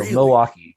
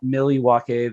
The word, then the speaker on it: Milwaukee: you say milwaukee it it's not just like it's like you take the il pretty much out of it it's basically m apostrophe w-a-u-k-e so milwaukee is just how when you grow up that's how you say it okay so they'll think i must have an outsider if i say milwaukee yes and also very quickly it is not millie wakey the thing from wayne's